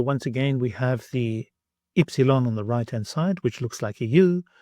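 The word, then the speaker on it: ύψιλον: Ypsilon, ypsilon, which you may also know as upsilon. This has the sound I as in the word Mary, I.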